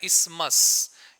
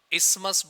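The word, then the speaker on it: isthmus: को ध्यान से देखना इस वर्ष का प्रनंसीएशन होता है इस मास एसटीएच साइलेंट होता है बोलना नहीं होता है इस मर्ज़ बोलते हैं इस mask क्या होता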